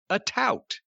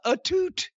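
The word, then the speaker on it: Atout: heard it pronounced so i thought her name was alicia a tout a-t-o-u-t that's what i thought too she introduced herself as alicia etute and i couldn't stop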